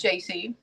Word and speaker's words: Jaycee: And my daughter was in the car with us, and she said, my daughter's name's JC, and it's spelled Jaycee.